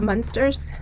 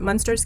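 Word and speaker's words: Münster: inspector in silence and i also have monsters or i don't think it's pronounced monsters but munster's case the next one that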